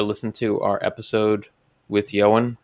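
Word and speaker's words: Ioan: to our episode with johan his first name is spelled i o a n he is a phenomenal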